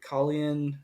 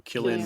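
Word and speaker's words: Cillian: is his name um is it kalian oh Killian Murphy Killian Murphy thank you that that's how you say it well he he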